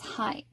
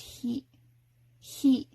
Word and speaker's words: ひ: up memorizing this as high it's not high it's heat so you may want to write on your flashcards instead just remember it's pronounced hee-hee-hee it even looks like a